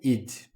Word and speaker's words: it'd: I just think it'd be better if I start working immediately. It. Na hora de falar, você vai ouvir só o id, na pronúncia dele. Também pode ser pronunciado como it'd.